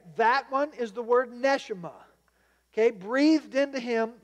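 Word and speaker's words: neshamah: is also this word nesima NE e s h e E M A and again it's we just trying to spell it how it sounds in the Hebrew so nesima and ruach meaning the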